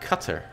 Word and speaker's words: Qatar: I do believe that Qatar is pronounced cutter but I don't think